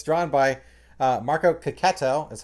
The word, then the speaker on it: Checchetto: also but it's it's drawn by uh marco cacato that's how you pronounce that and there's a backup story with